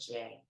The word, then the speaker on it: Jai: Very picky about how my name's pronounced, and it is Jay.